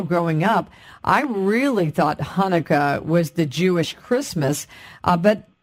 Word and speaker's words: Hanukkah: pronounce it we say Hanukkah but in the Hebrew it's Hanukkah that's why sometimes you'll see it with a CH but that's the guttural so it's just Happy